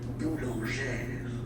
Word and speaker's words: boulangère: Same thing, don't insist too much on the final E, boulangère.